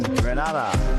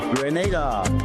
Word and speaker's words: Grenada: So, today, like we German say, we are in Granada, but I heard in English it's called Grenada.